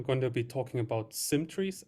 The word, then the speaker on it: SymTrees: to be talking about symmetries and symmetries one has two syllables the other has three and so this talk